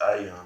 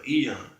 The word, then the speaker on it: Aeon: It's Ion, I believe. Aeon. How you say it? Is Ion or Aeon? Eon. Salakia. So I'm pronouncing it incorrectly, but it's Eon, dealing with ages or times.